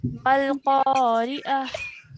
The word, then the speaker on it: القارعة: Yeah, that's why we have pronounced it the ha sakin at the end over here. So let's carry on. Al-Qari'ah.